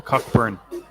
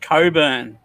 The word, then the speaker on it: Cockburn: In Australia, there's a cockburn. Yeah, but they pronounce it Coburn.